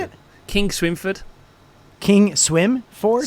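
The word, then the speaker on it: Kingswinford: do you say it king swinford king swim ford swin actually it's where the king used to keep his pigs so it's as in swine so it's king swine it's flattering isn't it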